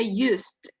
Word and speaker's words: used: Okay, we don't pronounce the E, use it. We say used.